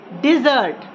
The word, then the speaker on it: dessert: It's T is silent. Restaurant. Next word, dessert.